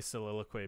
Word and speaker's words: soliloquy: gonna say soliloquy because I know how to say it and Adam doesn't. Got him. Yeah. Sick. Soliloquy. Yeah, soliloquy. Soliloquy. How many syllables is that? 4 or 5? Soliloquy. 4.